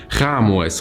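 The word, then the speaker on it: Khaemwaset: خاء-مواس ده هو اسمه أصلا خاء-ام-وست بس بتتنطق خاء-مواس.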